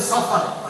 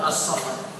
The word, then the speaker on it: Safar: pengucapan bahasa Arab kemudian Safar tidak boleh dikasih alif lam assafar kemudian berikutnya adalah Rabiul